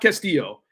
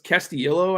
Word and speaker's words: Castillo: it's like it's not Castillo it's not Castillo it's castio I think okay that's how you